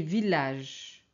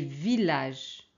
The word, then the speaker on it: village: c'est Camille Camille ok on a des exceptions c'est ville et village ville et village village ok on prononce l alors très bien si